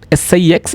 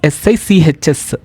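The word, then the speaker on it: sechs: It is not SIX, it is SICHS.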